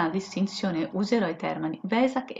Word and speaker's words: Vesak: la grafica originale è Vesac, ma poiché nella lingua tedesca la lettera V si pronuncia F, diventa tipo un fesac.